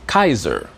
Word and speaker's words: Caesar: In the same way, the word Caesar from ancient Rome will be pronounced Kaiser because they pronounce the C with a hard sound like a K.